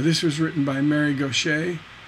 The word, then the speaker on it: Gauthier: Now, this was written by Mary Gaucher, spelled Gauthier. So it looks like Gauthier, but it's actually French and it's pronounced Gaucher.